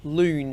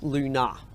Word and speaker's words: Lune: So as long as they say loon and not luna. So tell explain the difference between the two words for you. Lon is the French word for moon and luna is the